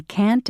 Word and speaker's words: can't: Notice how the T in can't and shouldn't is not strongly pronounced.